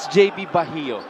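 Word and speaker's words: Bajo: And by the way, just to clear it with everybody, it is JB Bahio. That's how you pronounce his last name. A lot of people pronounce it as Bahio or Bayo.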